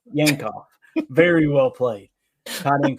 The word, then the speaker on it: Yankoff: How do you say that name, Jacob? We'll go Yankoff. Yankoff.